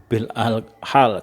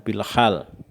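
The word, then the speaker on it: بالحال: Kadang-kadang kalau teman-teman tidak tahu tentang bahasa Arab, itu bahasanya metode dakwah bil al lisan, bil al qalam, bil al hal gitu. Jadi ini bacanya bil lisan, bil qalam, dan bil hal. Ya, jangan sampai keliru.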